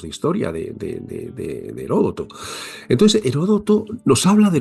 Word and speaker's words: Heródoto: Y eso solo debemos a alguien que que también como siempre aconsejo que se lea, que es Herodoto o Heródoto. Heródoto, sí, Heródoto.